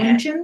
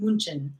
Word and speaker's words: München: Is that how you pronounce it? That's how you say München? it. München.